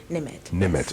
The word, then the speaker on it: Nimed: Okay, so since we're on there, and help me pronounce this, Nimed. Nimed.